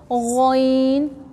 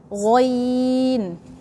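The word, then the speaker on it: غ: Then ghoin is from the throat, but it's closer to the tongue. So we pronounce it strong. Say ghoin.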